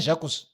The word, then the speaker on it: Jacques: It's not Jacques. No, Jacques. But it's written Jacques. Yes, because the S is silent. Why is it there? Because it's a French name.